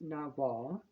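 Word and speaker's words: nagual: folk religion and spirituality a Nagal or no pronounced Nagal is a man or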